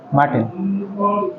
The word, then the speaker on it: Martineau: तर pronunciation कौन Martin? MARTINEAU Martin.